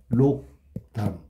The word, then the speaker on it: 백록담: 백록담. 발음은 백록담. 됐습니까? 그럼 앞에 기억하고 니을하고 였는데 여기는 이응하고 니은으로 바뀌었잖아. 두 개 다 바뀌었지, 그지?